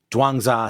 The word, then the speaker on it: Zhuangzi: So I looked it up. Dwangza seems to be how it is pronounced.